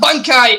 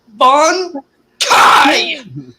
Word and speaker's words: Bankai: do that that bangkai it's not bunkai it's Bon Kai dude that's the right way to say it that's the right